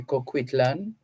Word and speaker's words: Coquitlam: the home of Ed and Shirley Chang in Coquitlam. Let me see if I'm getting it right. Coquitlam, or maybe in America they would say Coquitlam. We can double check the pronunciation, but it's Coquitlam in British Columbia, Canada.